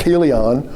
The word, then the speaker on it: Chilion: It probably has some sort of a guttural. Hebrew is guttural. The CH would be differently pronounced. It would be Chilion or something of that nature.